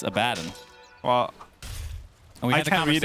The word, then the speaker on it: Abaddon: I say Abaddon, even though it's incorrect. Right? How do you say that? It's Abaddon.